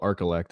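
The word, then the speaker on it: Archillect: spot for this but it's called arcelect it's spelled a-r-c-h-i-l-l-e-c-t and all it is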